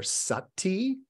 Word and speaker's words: sati: into a focus is called either Sati in the Pali language or shmerty in the Sanskrit language that word pronounced two different ways that word of course